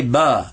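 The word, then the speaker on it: باء: that it's below so say ba below below so make the sound of b right there ba and then we're going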